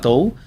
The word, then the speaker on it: Du: En chino se dice Du, pero en español lo traducieron a Tou.